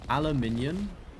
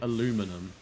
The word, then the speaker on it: aluminium: But aluminium, you'll say aluminum. So, you add the U to it, or you pronounce the U.